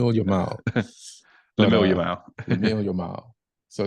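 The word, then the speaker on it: Lamine Yamal: 2 goals and 1 assist, but because of Lemille Yamal, they just kind of completely got overshadowed. Did I Yeah. say his name wrong? Yamal. But Lamil Yamal.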